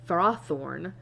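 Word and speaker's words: Ferrothorn: So I was like, what is it actually like pronounced as? And apparently it's far and fered. Fro seed and frothorn as opposed to what I said earlier and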